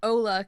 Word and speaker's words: Hola: hola sorry it's called I guess you'd pronounce it Ola because it's h o l a but anyway h o